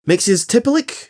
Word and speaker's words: Mxyzptlk: There's Mr. Mxyzptlk, or as this original version is pronounced, Mxyzptlk, who is a magical, reality-altering